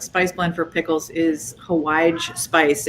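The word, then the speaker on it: hawaij: blend for pickles is hawaii spice it's a yemenite almost curry like spice blend um and it's spelled like hawaii but it has a j on the end so it's h a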